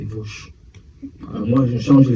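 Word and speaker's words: Veauche: Toute la conversation, on m'a dit, mais Charles, c'est pas chauve, c'est Vauche.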